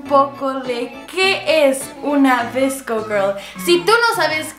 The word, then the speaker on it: VSCO: Ok, vamos a buscar en internet qué es una VSCO Girl. Ok, se pronuncia VSCO, o sea, sí lo estoy pronunciando bien, VSCO.